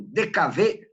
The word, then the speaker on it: DKW: de vmag produzia o dkv né se você nunca ouviu falar essa coisa Coloca aí pro é DK a gente fala dkv mas se escreve DKW Coloca aí DKW no